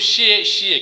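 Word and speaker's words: 谢谢: वो उसको जल्दी जल्दी बोल लेते हैं तो शिशी बोलते हैं।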